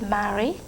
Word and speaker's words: Mary: In French, we pronounce it Marie.